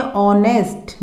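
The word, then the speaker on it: honest: लेकिन हमारे पास हमें साउंड मिल रही है ऑनेस्ट, because H is silent.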